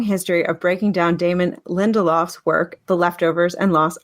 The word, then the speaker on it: Lindelof: of breaking down Damon Lindelhoff's. Damon Lindelhoff's. Nope, just Lindelof. Lindelof? Oh, right. I'm adding extra syllables. Oh my god. No, you're just adding extra like words, consonants. It's Damon Lindelof.